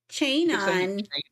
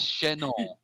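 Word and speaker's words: chanson: I couldn't get you to pronounce Chenon correctly. Chain on. It's Chenon.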